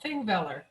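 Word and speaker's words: Þingvellir: we went is called thingveller and in icelandic it's this is what a it looks like a p but it's a th pronounced as a th so it's one of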